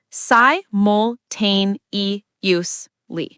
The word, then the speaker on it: simultaneously: And pronunciation tip here, simultaneously is a tough word. It's si-mul-tain-is-ly. Let's break it down. Si-mul-tain-e-us-ly. Si-mul-tain-e-us-ly.